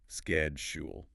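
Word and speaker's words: schedule: کی طرح لگتا ہے۔ دو سلیبلز sked، جیسے SKED، اور Jewel، جیسے JOL۔ Sked-shule. دباؤ پہلے حصے، سکیڈ، شیڈول پر ہے۔ شیڈول کہنے کی کوشش کریں۔ شیڈول.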